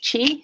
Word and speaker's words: chi: chi or ki um in chinese it's chi it's spelled c-h-i or q-i in japanese it's key